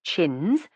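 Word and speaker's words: Champneis: Four years ago, Lord Edward Champnes, pronounced chins, old bud's fifth son, had met her in Hollywood, and in a month they were married.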